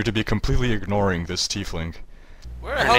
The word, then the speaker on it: tiefling: It's actually pronounced tiefling. At least that's how it was pronounced in an official Wizards of the Coast video.